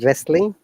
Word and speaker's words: wrestling: In that case, W is silent, like rec. Another one is wrestling.